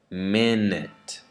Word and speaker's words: minute: The last syllable is unstressed now, and the first syllable is stressed. So I would say purchase, carrot, minute.